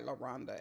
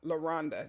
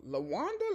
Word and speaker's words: Londa: Someone asked my name and I said Londa. And well, I have a standard story now. Londa. They go Lwanda. Lashonda.